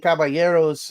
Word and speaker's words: caballeros: glad Jacqueline that you're saying caberos and pronouncing the Double L as the Y because I've seen a